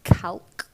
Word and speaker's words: calque: Fox, which I really enjoyed writing, and it's a kind of, how do you pronounce this, calque of a novella called Lady and Fox by David Garnett, A calque, sorry, can you 1922.